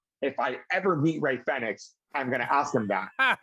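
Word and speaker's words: Rey Fénix: from now on we will be calling him ray fenix because that is the right way to pronounce it the word corrects me every time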